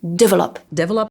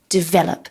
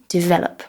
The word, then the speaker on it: develop: So for example, she said to develop instead of develop. Of course, you know in English that intonation is quite important. So here we want to emphasize the second syllable, develop.